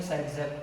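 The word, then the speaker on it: Zaitsev: तो उसके लिए अलेक्जेंडर ज़ेटसेफ या तो फिर सेटजेप, उसका प्रोनाउंसिएशन सेटजेप की किया जाता है, उसने रूल दिया, उसने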